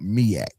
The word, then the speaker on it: MEAC: So Will, just to make sure you say it correctly, because I don't want nobody to mess with you. It's called MEAC.